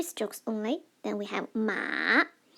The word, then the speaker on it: 马: The first one, 马 m, a, 马. Pay attention, it's the dipping tone, it's the third tone.